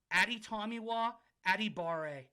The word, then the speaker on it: Adetomiwa Adebawore: With the 30th pick in the 2023 NFL LOD mock draft, the New Orleans Saints are taking Adetomiwa Adebawore. And that pronunciation was drilled.